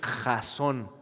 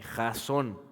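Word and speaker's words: חזון: Esa palabra visión en el original hebreo es jasón. ¿Okay? K J A Z O con acento N. Jason.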